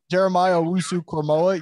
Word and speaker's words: Jeremiah Owusu-Koramoah: I think, is I'm going to say his name wrong, the Notre Dame linebacker, Asamu. Say it for me, please. Jeremiah Owusu-Koramoah.